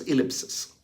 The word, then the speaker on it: ellipsis: i p s i s ellipses the correct pronunciation is ellipses Can you spot where is that ellipses in